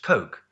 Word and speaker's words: Koch: Rather, their name is pronounced Koch like the sweet, delicious, sugary, zesty, life-affirming product popular in America and the rest of the world.